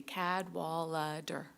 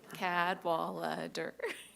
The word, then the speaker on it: Cadwallader: So very easy. Cadwallader. Syllables. Cadwallader.